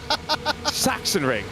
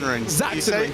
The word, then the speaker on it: Sachsenring: Sachsenring. No, I got it wrong. Sachsenring. There we go. Like a Z.